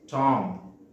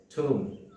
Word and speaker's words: tomb: people say this word as tong which is totally incorrect pronunciation the correct pronunciation of this word is tomb the next one is